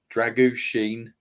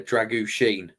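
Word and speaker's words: Drăgușin: I'm going Van der Ven, Dragushin. That's apparently how you say his name, by the way. Dragushin. Right. Yeah. Just remember Sheen, the Polish stuff. That's what, or Michael Sheen.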